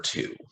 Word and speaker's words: two: Scholars, don't forget that W in there.